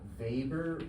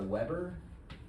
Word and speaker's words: Weber: So this is what's called a uh vber or a Weber depending on how you pronounce it.